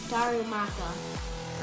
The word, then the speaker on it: Darumaka: Charizard Colin how do you say this one Darumaka all righty started off we got a Darumaka